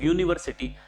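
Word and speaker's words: university: तर स्पेलिंगची सुरुवात तर वॉवेलने होत आहे म्हणजे इंग्रजी स्वराने होत आहे यने पण याच प्रोनन्सिएशन आपण यू असं करतो युनिव्हर्सिटी आणि य जो आहे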